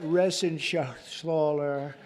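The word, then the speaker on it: Reschenthaler: and Guy Ren Shaler you know that resen Sher he's uh that's actually the way you pronounce it you know nobody else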